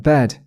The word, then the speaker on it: bad: 그냥 도도하게 귀찮은 듯 그냥 bad 해주면 됩니다.